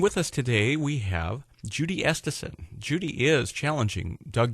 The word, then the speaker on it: Judy: that Joel high camp calls me and every time he gets on the radio so thank you for getting Judy correct um we all